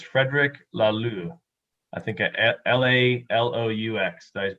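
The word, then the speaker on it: Laloux: the glow on my screen so it's frederick la lu i think l-a-l-o-u-x does pronounce that right sounds right but the english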